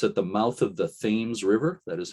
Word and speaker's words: Thames: the mouth of the thames river that is how they pronounce it there not tim's like in england the thames river between new london and